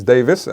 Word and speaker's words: Davies: So, you can uh My first name is Davis, which is spelled D A V I E S.